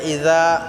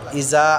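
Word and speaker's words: إِذَا: আনাসরুল্লাহি ওয়াল ফাত এখানে ইজা যা আমরা পাতলা করব ইজা আমরা অনেকে ইজা বলি ইজা হবে না ইজা যা আমরা পাতলা করব এবং এক আলিফ টান করবো যা এটা মধ্যে মুত্তাসিল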